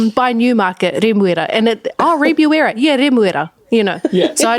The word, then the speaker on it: Remuera: So I have lived in Remuera for a couple years, and a lot of people do not know that it's called Remuera, and so they're like, where? And I'm like, it's by Newmarket, Remuera, and Remuera, Remuera, So